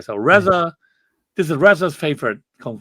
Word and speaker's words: RZA: hey you know um this is like Risa how do I pronounce that RZA Reza okay so Reza this is Reza's favorite